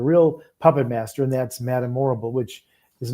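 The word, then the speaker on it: Madame Morrible: puppet master and that's Madamorble, which is not a coincidence. It rhymes with horrible.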